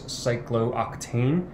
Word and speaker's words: cyclooctane: a little bit easier notice yes there's two O's that's not pronounced it's like glue tain that is cyclooctane and it looks like